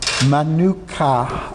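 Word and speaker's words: Menuach: Manuka, I think is how you pronounce it. Hebrew for a resting dwelling place. And it's spelled M-E-N-U-A-C-H, I believe it's U-N at the end.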